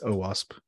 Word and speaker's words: OWASP: Yeah, I just talked for OWASP last night, and they pronounced it OWASP.